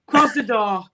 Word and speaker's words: Krasnodar: Krasnodar, mate. Krasnodar. Not dinosaur.